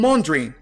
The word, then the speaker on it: wondering: Ela vai pronunciar I'm wondering como I'm wondering, I'm wondering, I'm wondering why, I'm wondering why. G aqui é omitido.